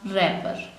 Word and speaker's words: wrapper: Last WRAPPER, रैपर। यहाँ पर हमारे पास W का लेटर साइलेंट है।